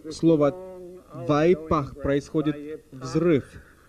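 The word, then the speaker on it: וַיִּפַּח: Оно произносится как «вайпах». Я не умею писать на иврите, поэтому я напишу это слово английскими буквами. Вайпах. Если вы не знакомы с языками семитской группы, вам будет трудно произнести последний звук в этом слове. Звук «х».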